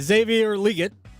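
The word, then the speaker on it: Xavier Legette: Xavier Liggett, that's how you pronounce it.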